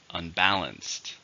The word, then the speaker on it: unbalanced: crazy it's an adjective it has three syllables stresses on the second syllable unbalanced unbalanced her behavior has